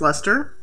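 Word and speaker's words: Leicester: BFL is Blueface Lester.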